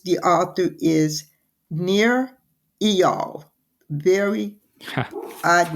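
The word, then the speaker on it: Eyal: called hooked and it's the author is near EOL very odd name but that is supposedly the pronunciation it's ni I uh pronounced near and last name is e y a l pronounce eal and it's about how to build habit forming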